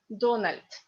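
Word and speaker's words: Дональд: In Russian, Donald. Donald Trump. Because D in the end of the word is read like T.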